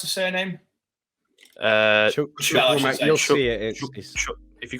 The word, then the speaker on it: Chukwuemeka: How do you pronounce the surname? Chukwuemeka.